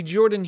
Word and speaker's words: Jorphdan: Hello everybody Jorphdan here the PH is silent.